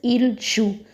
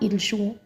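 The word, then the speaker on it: ils jouent: play they are playing remember not to pronounce the ending e n T in the ILS and ELS conjugation that is in the third person plural we never pronounce the ending E N T. We pronounce it similar as the sha that is ilju not ilhu.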